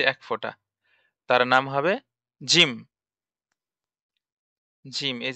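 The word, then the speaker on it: جيم: তার নাম জিম জিম জিম উচ্চারণ আছে জিমের উচ্চারণ জিম জিহ্বার মাঝ হতে শক্তভাবে আদায় হবে জিম জিহব্বার মাঝ হতে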